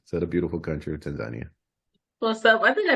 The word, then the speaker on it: Tanzania: wait to get to Tanzania I just learned that that's from you that that's the correct way to say it not Tania so okay thank you